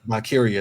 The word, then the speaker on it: Valkyria: It would lead to another title match between Bayley and, I always pronounce her name wrong, so I'm not going to say it, but Lyra Valkyria. Valkyria, there we go.